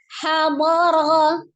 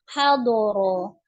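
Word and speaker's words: حَضَرَ: Maka diucapkan ha dha ra, hadara ya. Hadara. Jadi bukan hadoro.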